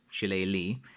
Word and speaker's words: Shillelagh: trying to explain about the word Shillelagh, which again is what I would call it. But again, I'm from Kerry in the southwest, and different parts of Ireland pronounce things differently.